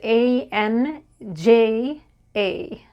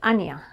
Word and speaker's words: Ajna: is the spelling is a n j a but it is pronounced Anya not Anja although that is how it is spelled um funny enough I